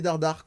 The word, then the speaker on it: Dardart: Dardar, comme ça se prononce, D-A-R-D-A-R-T.